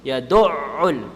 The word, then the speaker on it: يَدُعُّ: So you have to pronounce both ayns. You say yadu' and you say ul. Yadu'ul. You see what I'm saying? You don't say yadu'ul. Yadu'ul. So two ayns.